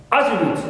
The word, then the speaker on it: attribute: with a flower and the first syllable is stress here attribute as a noun clear first syllable is stress and start with a flow now I have also